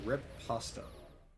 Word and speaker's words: Riposte: I'm happy to report that Operation Riposte? I think Lorca mispronounced it. It is Operation Riposta.